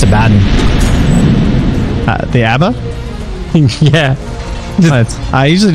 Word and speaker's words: Abaddon: things, but how the hell did you just pronounce Abaddon? The Abba? Yeah. I usually just say Abba.